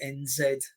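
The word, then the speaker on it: Ramonez: Ramones, spelt with a Z, so it's Ramoanz.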